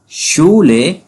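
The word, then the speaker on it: Schule: शूले कहा शू शूले means स्कूल अब सिक्स जो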